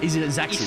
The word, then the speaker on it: Isaacson: Isaacson, that's it. I gotta pronounce the I like it's a capital.